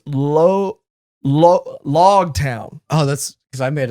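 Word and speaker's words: Loguetown: It's Log Town, as in prologue, epilogue, not Rogue Town.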